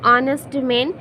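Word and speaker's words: honest: जब हम इसका उच्चारण करते हैं तो किस तरह से हमारा उच्चारण होता है, ऑनेस्ट। तो इसका जो स्वर ध्वनि है अ है, तो यहाँ पर हम लोग एन ऑनेस्ट लिखेंगे।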